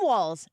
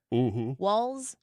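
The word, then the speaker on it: Walz: it's missing a t walls wals whatever and I literally heard them say it enough to I thought to myself okay it rhymes with one of our number one listeners balls on on uh Twitter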